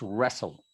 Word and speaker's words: wrestle: We don't pronounce the T. So it's wrestle.